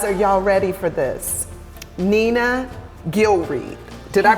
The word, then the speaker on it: Nena Gilreath: Nena Gilreath. Did I pronounce that right?